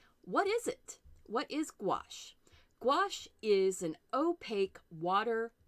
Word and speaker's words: gouache: in the United States we tend to say gouache hard G and then it's like wash as